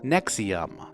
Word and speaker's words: NXIVM: this time selling vitamins NX I VM pronounced Nexium started out as executive success program or ESP for short it attracted over 16,000 members but eventually devolved into what we know as Nexium Allison Mack became involved